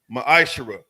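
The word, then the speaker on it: מעשר: tithes which is a commandment the book of numbers 18 21 the book of Malachi 3:es 8-10 it means 10th in the Hebrew is pronounced maishara 10% of every penny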